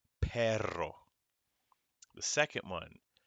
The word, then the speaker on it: perro: first word is pronounced perro gotta roll that r perro the second one caballo